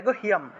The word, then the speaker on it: গুহ্যম: च कामिनी रक्षेत, गुह्यम, এখানে গড় শকার হয়ের সাথে জফলা ছিল, ঠিক আছে, তাহলে গুহ্য উচ্চারণ হলো, হয়ের সাথে জফলা থাকায় হিয় উচ্চারণটা আসবে, তাহলে গুহ্যম, অনুস্বার ছিল, অনুস্বার থাকায় ম এসছে, তাহলে গুহ্যম গুহ্যেশ্বরী তথা, গুহ্যম গুহ্যেশ্বরী তথা,